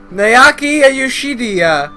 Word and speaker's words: Naoki Yoshida: Naoki Yoshida, that's how you say it.